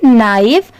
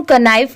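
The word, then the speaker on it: knife: तो इसे हम कनाइव क्यों नहीं पढ़ रहे हैं? तो देखिए यहां पर इस वर्ड में के लेटर साइलेंट है।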